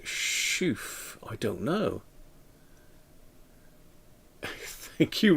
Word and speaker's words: La Chouffe: Is it not pronounced Chouffe? I don't know. Thank you, Rob. So Martin's in. It's pronounced La Chouffe. Chouffe? As in chauffeur?